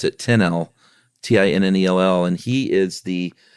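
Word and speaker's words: Tinnell: a movie Crusher named Joseph uh I'm gonna pronounce it 10l t-i-n-n-e-l-l and he is the content and programming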